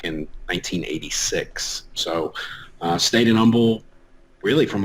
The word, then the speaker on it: Humble: there you go it's humble the h is silent we'll get upset about